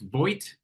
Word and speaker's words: Vogt: Please welcome Vogt, CEO, founder of Fraud Protection Institute. am I saying your last name correct? Vogt? It's actually pronounced Vogt.